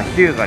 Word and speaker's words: 日向: そこから時を経て、発音は「ヒム」から「ヒュウガ」へと変化し、現在に至っています。